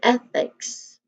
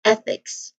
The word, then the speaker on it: ethics: So when it comes to pronunciation, ethics, so their student sound starts with a short e sound then fix. So here it uses a voiceless th sound. So this word is the symbol of the voiceless th sound. That one the o with a lie. So that's voiceless th sound. So here the program stress is on the first syllable e. So we say it as ethics.